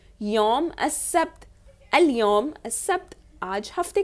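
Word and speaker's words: السبت: आप देख रहे हैं सब्त में अलिफ लाम है, अल है, लेकिन उसको प्रोनाउंस नहीं किया जाता, अस सब्त कहते हैं, अल सब्त नहीं कहते, अस सब्त कहते हैं।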